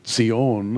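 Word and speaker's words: ציון: word Zion and at Zion in Hebrew seein as they pronounce it is the Jewish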